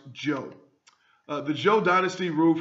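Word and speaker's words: Zhou: talk about the Joe Dynasty uh Z is pronounced Joe uh the Joe Dynasty ruled from 1045 to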